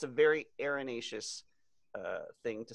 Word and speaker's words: erinaceous: have a topic today are you today is erinaceus erinaceus this is like the topic last week where